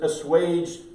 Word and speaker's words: assuaged: Assuaged with a U-A-G-E-D versus assuaged, like the word wage with an E-D on it, right?